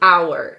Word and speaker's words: hour: like to come over we put an h in front of it and it's a silent h so you should have